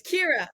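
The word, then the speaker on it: Ciara: it's on here no it's Kira why is it spelled on here okay so the way you've seen my name is um a fake spelling I actually spell it like this this is the legal way oh okay but it's spelled in like the Irish language so it's Cura but it's just I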